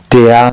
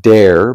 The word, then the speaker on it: der: perhaps don't know that an R at the end of a syllable in German is not pronounced like an R, it's pronounced something like an A. So this word is not pronounced der, but rather der, der, der Name, der Name.